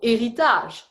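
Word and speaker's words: héritage: so heritage yeah so in french we don't pronounce the h so eritaz and the same thing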